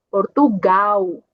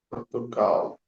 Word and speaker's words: Portugal: Logo temos aqui Portugal, uma L no final da palavra. Então a pronúncia vai ser como U, Portugal. Portugal.